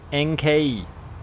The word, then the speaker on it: Enkei: Enkei is how the Japanese pronounce it.